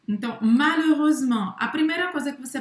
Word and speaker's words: malheureusement: Não Vai ser, a gente fala malheux, a gente não fala malheux, tá? Malheux, malheureux, malheureuse, malheureusement. Não pronuncia o T.